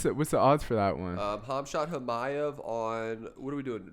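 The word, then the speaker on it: Khamzat Chimaev: Hamshat Hamayev. Hamshat Hamayev? That's how you pronounce his name? That's right. Damn. I know for sure. What's the odds for that one? Hamzat Chimaev on, what are we doing?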